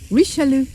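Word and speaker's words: Richelieu: going to say is I just asked the man the waiter how to pronounce the town and it's Alicia Lou there you go yeah so that's where we are rishalu oh and the cafe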